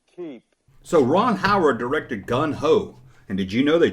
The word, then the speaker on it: Gung Ho: I often say gun ho, but Gung Ho. There, I said it right.